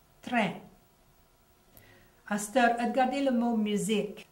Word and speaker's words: musique: Astor, regardez le mot musique. Le Q-U-I, Q-U-E, est prononcé comme un K en anglais.